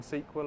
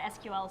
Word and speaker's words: SQL: decided that that's official sequel server it's not SQL Server and sequel server yeah excellent I had